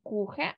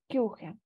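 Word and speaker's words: Küche: тут ми маємо уумляут читаємо не кухе А кюхе уумляут в нас читається як ю Можливо хтось в нас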